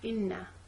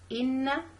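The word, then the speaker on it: إِنَّ: I'm gonna say Hamza kasra E, then I'm gonna move on to Noon. Okay, so a double letter, so I'm supposed to pronounce two letters. The first one is sakin, two Noon. A sakin Noon, then a mutaharrik Noon with fatha. And in these two letters, I'm supposed to keep the Ghunna sound with me.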